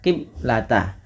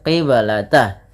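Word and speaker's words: قبلة: Kemudian pada lafal ba qib qib ah di sini ada bacaan qalqalah maka suara bnya harus dipantulkan. Kesalahan yang terjadi di dalam membaca bacaan qalqalah yaitu tidak memantulkan bunyi suara bnya. Maka dia biasanya dibaca qiblata. Wama ja'alnal qiblata. Harusnya dipantulkan qiblata.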